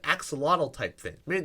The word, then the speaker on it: axolotl: Would you say axolotl? Yeah. What's an axolotl? It's astronaut. What? In the actual Maztec language, you pronounce the X with the ch.